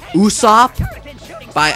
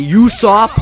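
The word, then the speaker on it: Usopp: and I read his name cuz it's it's pronounced Uso by I used to say usop like uh usop from U from you know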